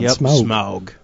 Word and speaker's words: Smaug: Good pronunciation on Smaug. Smaug.